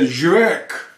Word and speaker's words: Żywiec: YouTube and other sites, telling you how to pronounce this, including one drunken Polish man. And he said, ŻYWIEC.